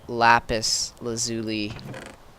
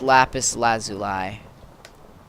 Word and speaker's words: lapis lazuli: know if we have lapis lazuli. Lazuli. I might have to go Team Yellow. I think it's lapis lazuli is the proper way to say it.